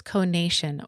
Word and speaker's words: conation: What makes the Kolbe ATM different from assessments is that it measures conation or the innate way you take action. Conation (yes, that’s how it’s pronounced) is the formal term for the striving or volitional instinct.